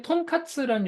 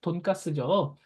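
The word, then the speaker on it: とんかつ: 일본 요리 중에 톤카츠라는 요리가 있어요. 톤카츠 아시죠? 한국어 발음은 뭐죠? 돈가스죠.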